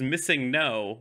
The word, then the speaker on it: Missingno: I know that it is Missingno, but you would say it as one word.